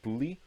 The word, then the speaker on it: boule: It's spelled boule, but it's like bouli.